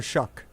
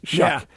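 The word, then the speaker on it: Shough: Tyler this is an old one cuz Tyler Shaw is that his name how do you say his name Tyler Shuck Shuck it doesn't look like that at That's H O U G H. Of course, Shuck.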